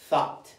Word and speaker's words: thought: La G, es más, la U, la G y la H no se pronuncia. Lo único que se pronuncia es la O y la T.